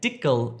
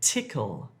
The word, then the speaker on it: tickle: Don't say dickle if you're trying to say tickle. Dickle, tickle.